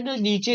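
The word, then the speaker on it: known: अब यहां पर मैंने ना नीचे लिख दिया इंटरनेशनल फोनेटिक एसोसिएशन जो आप लोग देखिए इंग्लिश में पढ़ते हैं ना नोन के एन ओ डब्लू एन के साइलेंट यह इन्होंने बताया है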